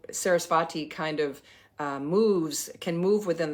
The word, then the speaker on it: Sarasvati: Her name is alternately spelled with either a V or a W, and it's very subtle. And for years I've been calling her Sarasvati, but it's I think it may be a very sort of W sort of V.